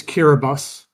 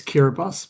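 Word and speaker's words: Kiribati: Yes, they are going to be correct your pronunciation. It's Kiraabus. I'm sorry. Thank you, Tony. That's that's okay. It's just a um it's it's not even spelled like that. It's spelled Kiraabati. It's Kiraabus.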